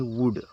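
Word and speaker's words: would: ओ यू एल डी इसको वल्ड नहीं पढ़ेंगे इसको पढ़ते हैं वुड क्या पढ़ते हैं वुड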